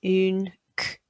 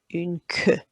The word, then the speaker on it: une queue: So I've highlighted in red that you need to say the Q and the U together.